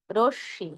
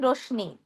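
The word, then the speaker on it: রশ্মি: গৃস আর একটু আনুনাসিক হবে একইভাবে পদ্য রশী অনেকে বলেন রশনি রশনি ভুল উচ্চারণ মন দিয়ে শুনবেন হ্যা রশনি হলো ভুল উচ্চারণ সঠিক উচ্চারণ হবে রশি কেন বলুন তো শব্দের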